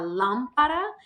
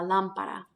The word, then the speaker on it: lámpara: So we want to pronounce it la lámpara and really put that stress on the first A and not put it where it would naturally fall in the second A.